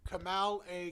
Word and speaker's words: Kamala: Kamal A Comedy. Kamala, just like the vice president.